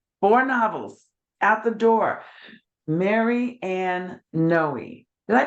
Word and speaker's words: Mary Ann Noe: just doing it four novels at the door Mary Ann Noe did I pronounce that right you bet yes Marianne and